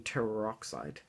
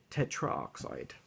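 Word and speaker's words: tetroxide: to avoid awkward pronunciations, we often drop the final O or A of the prefix when the element begins with a vowel. For example, N204 is called di nitrogen teroxide, not ditrogen tetraoxide.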